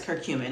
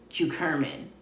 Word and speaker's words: curcumin: to say it but it's circumin I think I was saying cucur I I had the r in the wrong place so yeah so that